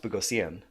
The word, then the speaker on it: Boghossian: Peter Boghossian. Peter Boghossian, yes. Although it should be pronounced Bogosian because okay. it's Armenian.